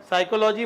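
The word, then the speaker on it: psychology: और बोलो आप नरिया, साइकोलॉजी में एस से शुरू, उच्चारण में एस है, स्पेलिंग लिखने में पी है।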